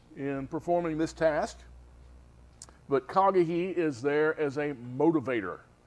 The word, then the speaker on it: Haggai: KAG yeah you see the the H sound the H in Hebrew always it has a a CH sound a k sound really KAG it's it's kagi that's how you say it that was his